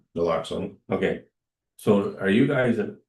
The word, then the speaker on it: naloxone: Going through the package, just one question about this, I won't pronounce it right, Noxalon? Naloxone, Okay, so are you guys, are the fire department administering that?